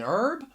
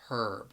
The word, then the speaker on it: herb: could say it's a herb. Now the reason why I say that is because in the United States, which is where I am from, that H is silent.